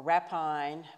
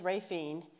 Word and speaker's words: Raphine: nobody can spell it some people say rafine or rapine but it is rafine um at least that's how the locals say it and so we're dealing